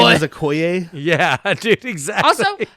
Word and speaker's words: Okoye: is Okoye. yeah, dude, exactly. Also, how did nobody mispronounce his name? Okoye? Why didn't it be like okay?